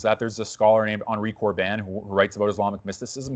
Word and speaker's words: Henri Corbin: I think you pronounce it Henri Corbin, Henricorbin.